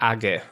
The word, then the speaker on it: age: that are trusted by your local browser, and Age, file encryption tool, which I pronounce Age.